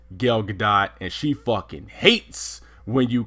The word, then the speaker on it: Gal Gadot: heard that from but I had heard that that was how her name was pronounced was goal and good Godot like the tee was silent and I remember being